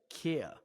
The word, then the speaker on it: Kia: Kia, like IKEA.